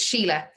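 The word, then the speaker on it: Síle: one sure i'm sorry can i just check pronunciation of your name oh i love the question it's sheila it's sheila yeah i'm glad i asked him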